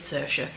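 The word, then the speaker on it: Saoirse: of that name and it is Sasha um because it's the same way you pronounce Sasha Rowan's name who is the American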